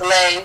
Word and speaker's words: Lei: So it's a play on words, and then my real name is Lei. People think it's Lee because it's spelled L-E-I-G-H. Oh, okay. I spell it L-E-I.